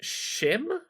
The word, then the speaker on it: Schim: try demo for called shim I think it's pronounced s c h IIM uh all the trailers